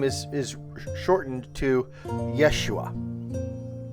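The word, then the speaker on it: ישוע: They just take the ho out of the middle because Yehoshua, it's a little difficult to say. But if you just say Yeshua, you sort of cut out a whole syllable and you make it flow easier.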